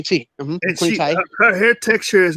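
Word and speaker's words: Tiye: the mummy of uh queen ty is that how you say her name to you yeah yes queen tea her hair texture is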